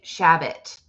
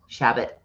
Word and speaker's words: Shabbat: um i went to a gay shabbot is that how you say it i feel like i'm saying it very very white shabbat shabbat that's it isn't it shabbat dang it yes anyways